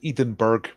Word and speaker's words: Edinburg: right this is Edinburgh they spell it without the H it's edenburg but you know it's not